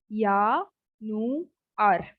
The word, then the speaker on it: Januar: Now don't call it as Januar. It's not J. This is year. So Jan, Nu, Ar. Ya, Nu, Ar.